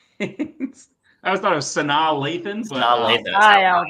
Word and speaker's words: Sanaa Lathan: Santa LaFan. Never heard it pronounced that way, but that is correct. Yeah. For 3 big points. I always thought it was Sanaa Lathan, but Sanaa Lathan.